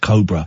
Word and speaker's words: Cobra: Anyway, we did a thing for uh Cobra Beer, but I pronounced it Cobra. And she took me to one side. I said, "Ian, I think it's pronounced Cobra."